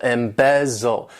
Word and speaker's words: embezzle: one embezzle to embezzle this verb has three syllables and the stress is on that second syllable embezzle embezzle and what it